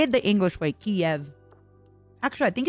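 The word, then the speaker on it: Kyiv: My flesh woman was born in Kiev.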